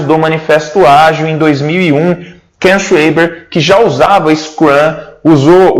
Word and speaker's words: Ken Schwaber: Até para ver como que pronuncia o nome dele, né? Ken Schwaber.